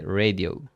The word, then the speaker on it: radio: Because I know in English you say something like the radio, right? But in Spanish, every time we are going to pronounce the vowels as they are written.